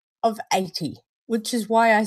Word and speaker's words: Aite: know good old into me I found a pronunciation of 80 which is why I say it that way